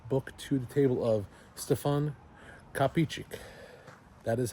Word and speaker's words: Stefan Kapičić: I brought a book to the table of Stfan Capich.